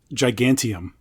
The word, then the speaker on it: Gigantium: Gigantium.